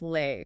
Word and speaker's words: lei: It's pronounced lei.